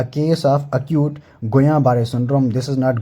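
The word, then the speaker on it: Guillain-Barré: a case of acute गुया बारे syndrome this is नॉट गुलिन this is अ गुया बारे सिंड्रोम ठीक है double L इज the silent one ठीक है इंजेक्शन अ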